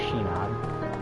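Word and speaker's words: Sinon: And here's Shinon. I might be mispronouncing it some, but I'm pretty sure they pronounce her name with a bit of an S or an SH sound to it.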